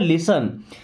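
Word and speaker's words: listen: लिसन। यहां पे T silent है।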